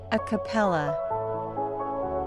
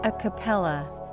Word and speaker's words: a cappella: in this video the word is a capella a capella a capella a capella is an Italian term used in music to